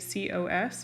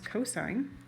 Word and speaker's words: cosine: Ca is the cosine, which we abbreviate COS. It's not cos, it's cosine.